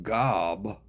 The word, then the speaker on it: Gob: That's why no one can say my name because it's really Gob. Like Gob, you know, like goober or gob of phlegm or gobstopper.